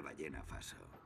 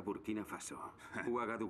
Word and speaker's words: Burkina Faso: Wikipedia Cuál es la capital de ballena faso se pronuncia burkina faso me das mis pastillas